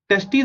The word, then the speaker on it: testes: Testes are present in scrotum outside abdominal cavity. So इसको मैंने pronounce कैसे किया?